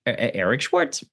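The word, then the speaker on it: Eric Shwartz: It's pronounced like a DJ scratch. Eric Schwarz. Eric Schwarz, man, you are you got one hell of a thumbrint.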